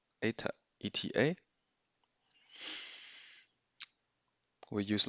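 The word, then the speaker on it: η: It's pronounced ATA.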